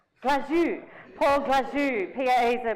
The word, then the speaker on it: Glazou: He told me to say it like I was sneezing it. Glazou.